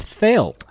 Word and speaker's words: Thale: My name is Thale. Thale It of... rhymes with quail.